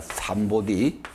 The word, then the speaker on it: 삼보디: 부처님의 깨달음을 삼보들이라고 합니다 삼보디 이걸 한자로는 적어 가지고 읽을 때 3불이라고 그러지요 보디를 버리라고 읽으니까 지금도 우리나라에서 보리라고 그러잖아요 상구보리 우리는 원하는 대로 읽어야 돼요 삼보디 보디는 이건 깨달음이고 그러니까